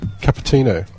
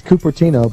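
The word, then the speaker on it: Cupertino: was California California California capino or catino how do you say that it's copertino but I was actually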